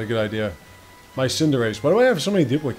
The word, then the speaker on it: Cinderace: It's Cinderace, by the way. That's what it's really supposed to be pronounced as.